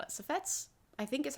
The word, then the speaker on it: suffetes: I think you say it suffets. Suffetes. Yes, that's how you spell it. Safets, I think is how you say it.